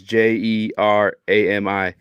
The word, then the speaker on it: Jerami: no, it's Jeremy It's Grant. like three of them. His name just spelled like different. Oh, I see. I see. Yeah, it's Jerami, but whatever. Shouts out to Jeremy Grant moms for just fucking me all up just now. Yeah, I'm like, But I ain't never seen Jeremy spelled like that.